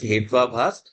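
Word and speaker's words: हेत्वाभास: we call hatu abhas together you pronounce it as hwabhas.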